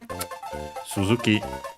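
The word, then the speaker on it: 続き: Suzuki unacented just like the verb. There are some exceptions unfortunately as you have seen but usually the rule is if the verb is unacented the contative form used as a noun is also an accented.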